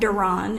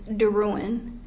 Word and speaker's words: DeRouen: My last name is not Duran, it's DeRouen.